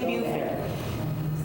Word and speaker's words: Beaufort: So past that, it's near Beaufort. Because we drive off the island and go into Is Beaufort. that how they pronounce it down there?